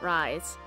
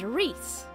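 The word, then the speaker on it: Rhys: So I just looked up how to pronounce the guy's name, because I was pretty sure it wasn't Rise. It's Reese.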